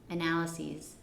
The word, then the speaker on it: analyses: And the pronunciation? Analyses. Analysis? Analyses. Yes. Just this. It's almost like a Z sound.